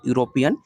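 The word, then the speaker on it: European: प्रयोग किया जाएगा क्योंकि द वर्ड यूरोपियन का पहला साउंड आपका यू है जब आप प्रोनाउंस करोगे यूरोपियन तो जो उसका शब्द उच्चारण होगा आपका यू होगा जो कि कंसोनेंट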